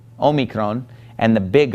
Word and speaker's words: omicron: the next letter is Omicron Omicron is identical to our English lowercase O and it makes an O sound Omicron now we're oh me Krong gets its name is